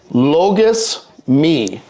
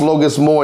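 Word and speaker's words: λογισμοί: Thoughts are, as the Holy Fathers write in Greek, logos me. Not pronounced logos moi, even though that's how it looks.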